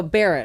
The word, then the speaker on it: Barrett: Barrett, I'm saying it correctly?